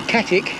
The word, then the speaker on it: Catwick: we are up to catwick lane it's actually katic as a wife pronounce it i'm almost there